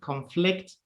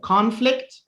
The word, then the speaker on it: conflict: like produce produce graduate conflict conflict you see how the stress is always at the end because it's a verb right now let me